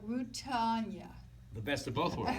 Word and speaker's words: Rutanya: Let me introduce my special co-host and the star Mommy Dearest, Rutanya Alda. Yes. Wow. Yay. Clap. Did I pronounce that correct?